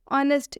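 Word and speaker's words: honest: देख सकते हैं आप, एच के बाद से ओ आ रहा है जिस भी वर्ड में, उसमें हम एच का प्रोनाउंसिएशन नहीं करेंगे। जैसा कि रूल में स्पष्ट लिखा हुआ, एच के बाद ओ आए तो एच साइलेंट होता है।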